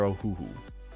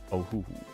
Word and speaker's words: Ohuhu: No. They're Ohuhu. I'm pretty sure. Because they start with an O. Ohuhu. And I've heard other YouTubers call it that.